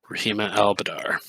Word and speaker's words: Rahima al-Badar: Rahima al-Badar. B-A-D-R. How do you pronounce that? That's how I pronounce it. Yeah. Rahima al-Badar.